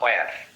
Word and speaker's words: where: ওয়া, WHERE, এইচ বাদ, ওয়া বা ওয়ার যাই বলেন, কোথায়, তাই না?